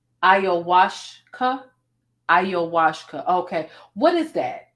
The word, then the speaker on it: ayahuasca: They said it's pronounced ayahuasca.